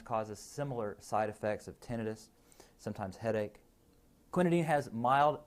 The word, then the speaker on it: tinnitus: Cinchonism is characterized by blurred vision, tinnitus or ringing in the ears, and it is pronounced tinnitus, not tinnitus, and then also headache, and then sometimes disorientation and psychosis.